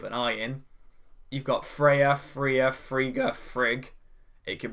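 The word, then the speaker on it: Fria: And we find her name is Freya. That is spelled F-R-I-A.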